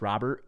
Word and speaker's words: Robert: then again then again they have Luis Rober saying Luis Robert and his actual pronunciation on the white website is Rober yeah okay say Aro